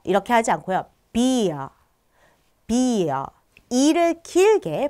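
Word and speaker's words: Bier: 그런데 이 에에 강세가 딱 있으면 이를 길게 발음해 주시면 됩니다. 예를 들어서요. 우리 독일하면 딱 떠오르는 거 뭐 있어요? 맥주 있죠? 맥주 같은 경우도요. 비어 이렇게 하지 않고요. 비어 이를 길게 발음해 주시면 됩니다.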